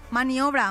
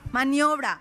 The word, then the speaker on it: maniobra: Eso, esos camioneros si le pasa algo a ese camionero para hacer su maniobra, maniobra, maniobra, maniobra, manobras. Maniobra. No, no tiene tampoco acento en la O.